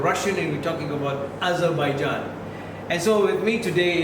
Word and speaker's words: Azerbaijan: And it's a pleasure, it's an honor, and it's a surprise to meet someone directly from this Republic of Azerbaijan. Have I pronounced it correctly?